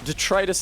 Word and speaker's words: detritus: I think my dad says detritus. I don't remember no more. They both sound wrong to me now. Once upon a time only one sounded wrong and it was the correct one. Detritus is the right one.